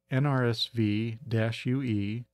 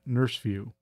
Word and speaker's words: NRSVue: When I saw it, I immediately found myself saying NRSVue.